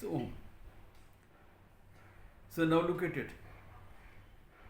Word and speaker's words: Om: So please don't say aum for om, okay? It's om.